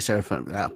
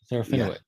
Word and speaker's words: Serafinowicz: Peter Seraphim, can't pronounce it. Peter Seraphim. Serafinowicz.